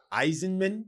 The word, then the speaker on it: Eisenman: Eisenman. Yeah, because it's like Eisenhower but cut off the hower and put a man.